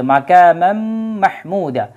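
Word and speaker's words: مقاما محمودا: জায়গায় যেহেতু তানুইন আছে তানুনের পরে মিম যদি থাকে তাহলে দুইটাকে কি করতে হয় একত্রে করে ইদগাম করতে হয় ইদগাম করে পড়তে হয় এজন্য কিন্তু আবার মিম চলে আসবে সরাসরি মিমের উচ্চারণটা চলেছে মাকামাম মাহমুদা তাহলে মাহমুদা শব্দটা যদি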